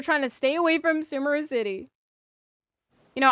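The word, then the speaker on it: Sumeru: to stay away from sumerous City you know I know it's pronounced sumero it's Sumer to me I I just can't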